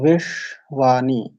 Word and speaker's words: বিশ্বানি: এদের স্থান কি তালু তো এই তালব্যাস আকারে উচ্চারণের ক্ষেত্রে আমাদের কি করতে হবে চ ছ জ ঝই স্থানে উচ্চারিত হয় সেই স্থানে জিহ্বাকে কিঞ্চিত স্পর্শ করে সেই তালব্যের সকারে উচ্চারণ করতে হয় তো এটা ভাবে শুদ্ধ উচ্চারণ হয় তো বিশ্ববানি বিশ্ববানি বিশ্ববানি আর দুইটা পরস্পর সংযুক্ত